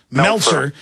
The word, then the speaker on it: Meltzer: Author Brad Meltzer, how do you pronounce his name? Meltzer.